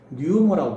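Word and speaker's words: pneuma: 이번에는요, 하나님은 거룩한 영입니다 라고 이야기하는데 뭐라고 하냐면요, 뉴머라고 부릅니다. 원래 뉴머는 피가 발음이 안 되는데요, 불어넣어 모아라는 뜻입니다.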